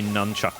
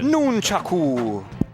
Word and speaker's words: nunchaku: By the way, I am going to say nunchuck and not however it is actually. Nunchuck. I don't want to say it like that. I'm so used to the Wii, you know. Nunchaku.